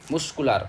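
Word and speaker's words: muscular: Double L क्या बोलेंगे हम लोग? कुल लार थोड़ी बोल रहे हैं। हम बोल कुलार बस बोल रहे हैं। सिंपल ए का एल है ना? कुलार अगर डबल रहता तो क्या बोलता? कुल लार। कुल लार ऐसा बोलता है बट यहां पर सिर्फ कुलार है यानी एक रहेगा तो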